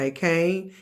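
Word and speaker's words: Achane: Tua and and Tyreek Hill and Wadd and a Kane that's how you say his name yeah um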